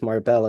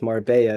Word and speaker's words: Marbella: So people planning to move to what they're thinking is Marbella is Marbella if you pronounce it in Spanish, right?